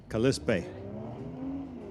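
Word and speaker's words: Kalispell: Now, what is our official pronunciation on this again? Kalispa. Kalispe. Kalispe. It's like Callispel, but a little tweaked.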